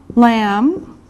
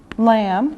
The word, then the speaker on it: lamb: meat like beef beef lamb lamb remember this is silent the b is silent pork pork chicken chicken